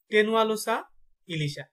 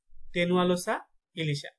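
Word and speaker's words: Tenualosa ilisha: লিখে লিখে পড়বেন, তাহলে আপনার মুখস্থ হওয়ার পাশাপাশি বানানটা একদম ক্লিয়ার হয়ে যাবে। এগুলা কিন্তু জ্ঞানমূলকে আছে। কেমন? ইলিশের বৈজ্ঞানিক নাম হচ্ছে টেনুয়ালোসা ইলিশা, টেনুয়ালোসা ইলিশা।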